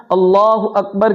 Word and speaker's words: اللہ اکبر: تحریمہ کے الفاظ ہے اللہ اکبر۔ اگر کوئی بندہ اللہ اکبر کہتا ہے، اللہ کے حمزہ کو کھینچتا ہے، یا اللہ اکبر کہتا ہے، اکبر کے با کے بعد الف بڑھاتا ہے، تو اس صورت میں